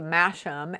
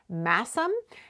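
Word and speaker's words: Masham: saying it's actually pronounced massim and one person said it's a place name it's one of those place names in the uk you know where they drop the sound of the h and so it's it's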